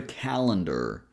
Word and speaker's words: calendar: Then we go to calendar. This word here is interesting since we have three syllables but the only big syllable is the first one cat.